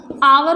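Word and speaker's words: hour: यहाँ पे कॉन्सोनेंट है, बट एच एक तरह से साइलेंट भी होता है, और इसका प्रोनाउंसिएशन जो हम लोग करते हैं वो आ से होता है ना, आवर बोलते हैं इसको।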